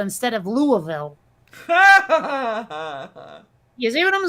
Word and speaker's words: Louisville: go into that other place and call it lewisville instead of louisville you see what i'm saying is like people